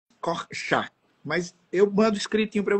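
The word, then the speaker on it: Korczak: Eu pronuncio corks, mas se você for falar em idos corcha, mas eu mando escritinho para você.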